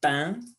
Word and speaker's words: pain: Le pain, hein, c'est un son nasal. Le pain, au pluriel, les pains, avec l'article indéfini, c'est un pain, et au pluriel, des pains.